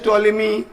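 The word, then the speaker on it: Ptolemy: टॉलेमी में देखिए P silent होता है इंग्लिश में, पर टॉलेमी मत पढ़िएगा।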